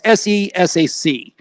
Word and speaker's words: SESAC: I always say it wrong. It's SESAC.